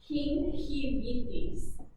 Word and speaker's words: gingivitis: This is actually pronounced gingivitis. So the G is tricking you. That's fun. It is making an H sound, okay?